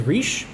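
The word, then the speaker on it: Resh: fine the next letter is re pronounced like an R sound in English um actually it's more like a thrilled R sound uh that you would hear in Italian the next letter is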